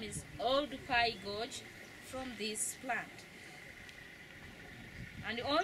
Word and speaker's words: Oldupai: He mispronounced and he mispublished the name. Instead of writing Oldupai Gorge, he wrote Olduvai Gorge.